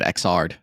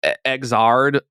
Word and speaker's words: Xrd: the the thing is it's X3 but they didn't want to say XXX so it's third but with an X instead of the three it's exard or exer but you're